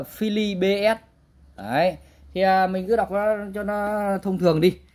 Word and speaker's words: Philips: Đấy, thì quen gọi là đài Philip nhá, tại vì nhưng mà ở đây nó không có dấu sắc nên là không đọc là thành Philip, thế nhưng mà đọc chuẩn ra là Philly BS.